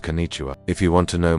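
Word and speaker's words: こんにちは: It's pronounced Kenicha.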